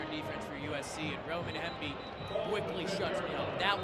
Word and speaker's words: Hemby: You said it right, the Roman Hemby drive.